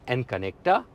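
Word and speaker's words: N-Connecta: तो अगर वेरिएंट की बात करें तो ये गाड़ी विजिया, विजिया प्लस, एसेंटा और इसके बाद में एन कनेक्टा और टेक्ना प्लस, ये इसके वेरिएंट इस तरीके से प्रोनाउंस होंगे।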